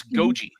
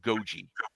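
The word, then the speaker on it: Gogi: But anyway, yeah, and it's Goji. I've always heard her name pronounced Goji.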